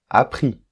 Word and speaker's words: appris: suivi apprendre ou prendre appris donc là c'est i s à la fin mais ça se prononce i ok comprendre compris sortir